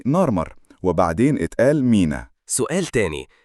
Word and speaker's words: نارمر: ما كناش بنكتب بالعربي اسمي في الهيروغليفيه كان على شكل سمكه نار وحرف مر يعني نارمر وبعدين اتقال مينا سؤال